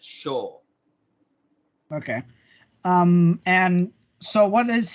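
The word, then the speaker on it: 青: to morning blue dragon, because it was Asa for morning and then owl for blue, but they pronounced it Sho.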